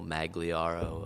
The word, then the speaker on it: Magliaro: We're with Jacob Sembrano of Cruz Blanca, Matt Tanaka of Malt Collective, and Gabriel Magliaro of Half Acre.